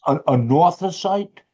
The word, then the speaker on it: anorthosite: A northosite? Anorthosite. Could you spell that, please?